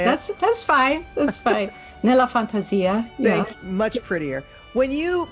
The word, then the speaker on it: Nella Fantasia: Nella Fantasia.